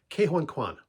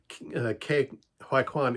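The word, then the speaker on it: Ke Huy Quan: How do you pronounce his name? Oh, Ke-Huy Quan, the guy who played in Indiana Jones and Goonies.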